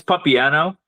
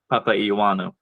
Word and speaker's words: Papaioannou: your name properly uh it it's papano you said Papu I think which is okay I mean that's not even the right way to say it actually like when my grandma says it she says like Papa iano oh oh interesting yeah